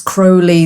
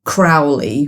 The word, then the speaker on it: Crowley: point in his life he said that it's Crowley that rhymes with holy and that's how I know that you're my friend but if you call me Crowley which rhymes with fouli then I know that